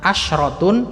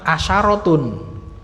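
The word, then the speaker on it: عشرة: Kalau yang dihitung dengan 10 itu mudzakkar, shinnya di fathah. Karena kadang ada yang baca asyrotun, kadang ada yang baca asyarotun.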